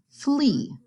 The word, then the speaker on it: flee: The A is silent, the E says its name, flee.